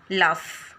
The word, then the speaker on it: laugh: LOLAUGH यहाँ पढ़ेंगे फ, लाफ, लेफ।